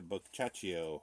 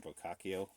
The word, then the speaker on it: Boccaccio: It's the Cameron Giovanni Boccaccio, or Boccaccio, however you want to pronounce it.